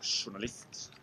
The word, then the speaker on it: journalist: You say S all the time, or Sh sometimes, but never Z or J. Even journalist, you go journalist.